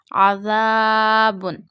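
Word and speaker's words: عذاب: Read zal very softly while reading Quran or Arabic, because we read zal from the top of the tip of the tongue to the inner edges of upper two front teeth. So this is not aza. No, don't read it with the whistle sound voice or hardly voice. Read it very softly.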